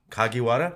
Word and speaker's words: Kagiwada: kagiwada yeah kagiwada yeah so if you speak Spanish read the syllables as if you were reading a Spanish word that's how Japanese work that's how Japanese last names kind of work out that's cool man hey